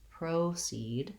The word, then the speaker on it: proceed: And in this case, the O actually says the O diphthong in American English. So we're going to be long on proceed, and we'll still have that same clear vowel in the second syllable.